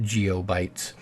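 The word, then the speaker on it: geopbyte: uh Bronto bytes and geobytes by the way the p is silent and it's pronounced geobytes however if if you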